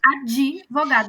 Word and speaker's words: advogado: e já é advog então aqui esse D A gente vai ler de a a gente vai ler de AD vogada tá advogado então ele precisa ser bem pronunciado advogado minha esposa é